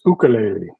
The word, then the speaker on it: ukulele: And so I figure I should try to pronounce it like the native Hawaiians do.